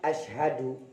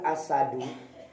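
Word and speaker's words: أشهد: Ketika bersyahadah, ya Bapak Ibu, kalimat asyhadu dengan asadu ataupun asyadu itu jauh berbeda. Ini pentingnya Al-Quran, membaca Al-Quran secara tartil. Kalau asyhadu, ini tepat Pak. Asyhadu, saya bersaksi. Syahadat. Tapi kalau kita entengkan membacanya menjadi asadu, jadinya singa Pak. Vital tuh Pak. Dari asyhadu menjadi asadu, itu vital sekali Pak. Sedangkan kalau membacanya jadi asyadu, tidak ada hak di tengahnya, maka jadinya lebih berat.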